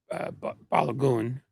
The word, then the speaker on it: Balogun: Trump basically buys off Infantino to get Balogun, which is how it's supposed to be pronounced. That is Balogun. That's what we decided it was.